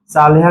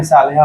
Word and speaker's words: सालेहा: इसका कोई बोलता है रेसिप्रोकल क्या होगा, तो उसका रेसिप्रोकल वन में सालेहा होगा। ठीक है। साला नहीं, सालेहा है।